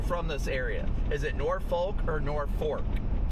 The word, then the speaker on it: Norfolk: Is it Norfolk or Norfork? Not from Nor, but I like I've lived here my entire life and it's always been Norfork. We don't say it how it's spelled.